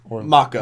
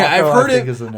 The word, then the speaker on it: Mako: on, because of the unfortunate early death of Mako, actually, or was it? Yeah. Is it? It's okay. Mako, I've heard it being pronounced both Mako and Mako.